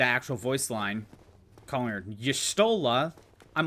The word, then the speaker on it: Y'shtola: Like, I used to call Y'shtola Y'shtol, because, like, for Final Fantasy XIV, because I played Dissidia, there was no voice acting.